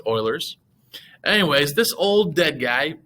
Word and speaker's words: Euler: something called euler's formula it looks like euler's or something like that but it's pronounced euler's anyways this old dead